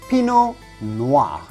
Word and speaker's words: pinot noir: we would say chardonnay pinot noir yes pinot noir the tea at the end of pinot is definitely silent so do not say pinot noir but simply pinot noir